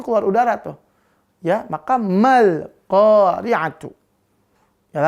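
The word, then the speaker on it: مَا الْقَارِعَةُ: Ya, maka mal qari'atu. Ya, lalu ketika ma dilafalkan, ya, maka nggak boleh ma ini tebel, nggak boleh, harus tipis dia. Nggak boleh mul, nggak boleh.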